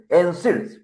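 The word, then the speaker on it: NSAID: Capital nonsteroidal anti-inflammatory drugs Neds pronunciation is nids but before prescribing and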